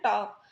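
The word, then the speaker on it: talk: फिर ये लिखा TAL के, टाल्क। टाल्क तो नहीं बोलते हम क्या बोलते हैं, टॉक। तो इसमें एल जो है हमारा वो साइलेंट है।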